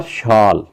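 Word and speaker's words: shawl: फॉर शाल, इसका W silent होता है, फॉर शाल एंड ट्राउज़र,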